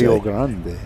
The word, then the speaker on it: Rio Grande: Rio Grande. Yeah. Don't forget you have to roll your R's.